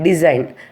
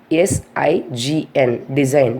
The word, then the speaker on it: design: And then one more we'll take design, D-E-S-I-G-N, design. The spelling is D-E-S-I-G-N. Here we are not pronouncing the letter G, simply we are saying design.